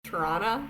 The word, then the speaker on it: Toronto: It's kind of like how Toronto they don't pronounce the R's in their words, so it's Toronto when you're there.